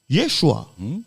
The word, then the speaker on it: Yeshua: on l'entend entre nous qui se prononce normalement Yeshua Dieu sauve bon Dieu